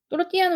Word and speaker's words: tortilla: 그러면 주어가 토르티아 데 파타타니까 그대로 쓸게요. 토르티아 데 파타타. 또르띠아는 우리가 말하는 토르티아라고 되어 있는데 스페인식 발음은 또르띠아고요. 그 다음에 데 파타타라고 되어 있는데 파타타가 아니고 빠따따 해가지고 된소리로 발음하셔야 돼요.